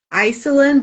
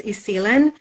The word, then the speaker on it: Isilen: Um, that's how we would pronounce her name because I know many times people think it's Iselin, but it's Isilen.